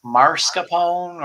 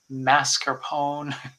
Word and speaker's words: mascarpone: how to spell it is it marscapone or is it mascarpone so mess m-a-s-c-a-r-p-o-n-e yeah so i don't think in italy there's much to date now the way to remember is mask like mask mascarpone